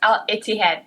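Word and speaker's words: Al-Ittihad: Yeah, it's Al Itihad. Thank you so much, Kate. Al Itihad.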